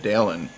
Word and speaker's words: Dallin: Because originally I said Dallin. And he said it's Dallin, like Talon.